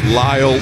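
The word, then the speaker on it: Lael: L A E L pronounced Lyall Lockheart.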